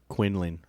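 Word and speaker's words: Quinlan: Then I got Quinn or Quailin. Quinnland.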